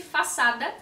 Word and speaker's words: façade: da KS broeto na verdade pronuncia-se faada mas enfim aqui no